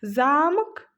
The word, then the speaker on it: замок: Замок, замок. Слова отличаются ударениями и значениями.